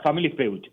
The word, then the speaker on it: Family Feud: se pronuncia Family Feud, que es la estructura del programa original, pues.